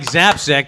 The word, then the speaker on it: Zapcic: mike zapcake zap sick no egg aka mike zapsec there you go sorry oh yes pronounce that just like that mike's done with